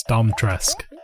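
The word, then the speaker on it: Dimitrescu: I was trying to remember how you actually supposed to pronounce that name. It's Dom Tresk.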